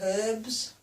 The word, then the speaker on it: herb: Herb or herbs. Herb. We always pronounce the H. I don't think Americans do.